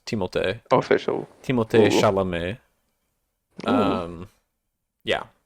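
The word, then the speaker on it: Timothée: the biggest goon yet timot as His official pronunciation is timot official timot Shalom um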